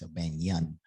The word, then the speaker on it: O'Banion: recipes brother darius o'banion i said his name wrong on the last i said oh banana and it's a bang yun um but it was